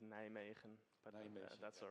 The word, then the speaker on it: Nijmegen: Yeah, it's pronounced Nijmegen, but Nijmegen, that's all right.